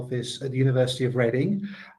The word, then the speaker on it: Reading: My name is and I'm the head of the international office at the University of Reading. Just to say it's pronounced reading, although you might read it as reading.